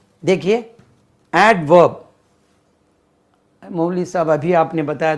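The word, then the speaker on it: adverb: डी नहीं बोलता है, तो इसमें भी डी नहीं बोलता है, बोलने से अवर्ब हो जाएगा। इसमें डी को हम तलफ़ुज़ करेंगे, डी का तलफ़ुज़ रहेगा। वी हैव to pronounce एडवर्ब, एडवर्ब, एडवर्ब।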